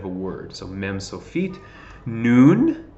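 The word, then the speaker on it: נ: so mem so feet noon that's the n sound noon so feet okay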